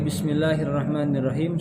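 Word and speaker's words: بسم الله الرحمن الرحيم: bibir posisi rata Kemudian kesalahan yang biasanya kita temukan dalam pengucapan Bismillahirrohmanirrohim pada huruf Sin Sin ketika sukun bisnis-bisnis biasanya ada kesalahan ketika mengucapkan Shin yaitu adanya pantulan adanya pantulan dari sin yang disusun contoh-contoh yang keliru seperti ini Bismillahirrohmanirrohim bisa-bisa itu pantulan dari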